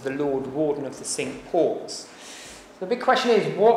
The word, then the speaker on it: Cinque Ports: we talk about the Cinque Ports a proper pronunciation should be synched because in the 12th century when it's founded the word for five in French was sink now they originally were